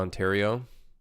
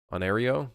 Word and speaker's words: Ontario: that anyways but yeah Toronto but not Ontario onario I don't think anybody calls it onario the only reason why Toronto works is because like phonetically like that's how we say it here unless you're French which then you don't say it that way I don't know anybody that says onario onar Ontario Ontario onario